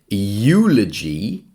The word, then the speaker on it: eulogy: Number five, eulogy. Well, that's a consonant sound. Y.